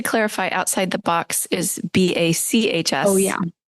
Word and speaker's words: bacs: It's not b. It's spelled like Johan Sebastian.